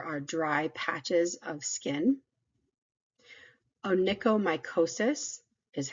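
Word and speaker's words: onychomycosis: condition where there are dry patches of skin onicomicosis is how you pronounce that word mosis is a fungal infection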